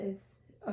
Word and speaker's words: Isa: That is a gorgeous card. That is a pretty card. Yeah, and so it's actually got like ice in it. It's pronounced Isa. So my niece's name, Isa.